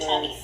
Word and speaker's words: Atami: The character you see here is named Atami, pronounced Atami, which means pain in Japanese.